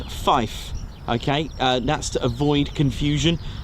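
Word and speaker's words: five: You'll also hear the number 3 pronounced as tree. All right, that again, and also number 9 as niner. Also 5 as fife.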